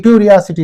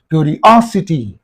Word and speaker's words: curiosity: the suffix means oh therefore you have to say curiosity you have to say